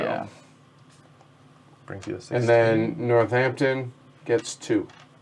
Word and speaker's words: Northampton: came prepared tony says you don't pronounce the d in northampton that would be the